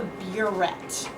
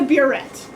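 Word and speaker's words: burette: name it's called a buet okay and it doesn't have like a French pronunciation B no okay it's just a buet so what you would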